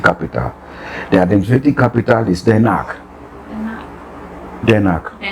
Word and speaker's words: Den Haag: The administrative capital is Den Haag. Den Haag. The Hague. The Hague. The Hague. Okay. Den Haag is a Dutch pronunciation, but the Hague is the English pronunciation.